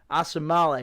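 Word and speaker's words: Osemele: was the first move trading from big ko awesome male right that's how you say his name ko assembly collection there you go assembly we'll see how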